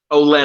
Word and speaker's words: Olenna: Olenna.